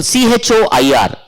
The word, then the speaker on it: choir: For example, CHOIR. Choir. CHORD. That is K pronunciation.